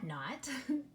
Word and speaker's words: knot: letter is silent yes the K is the silent partner with the K in there you do not hear it the word is not